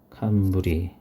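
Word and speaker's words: 寒鰤: 그래서 한은 칸이라고 읽어요. 그 다음에 아까 불이라 그랬죠. 그래서 칸부리, 예, 칸부리, 겨울방어, 칸부리.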